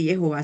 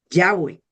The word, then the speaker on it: Jehová: Pero hoy día mucha gente no dice Jehová, sino Yahweeh. Y ese Yahwe no puede ser porque en hebreo no existe el sonido y de pronto si dijesen Yahweeh, pero la pronunciación de verdad que aparece en las en las biblias antiguas es Jehová.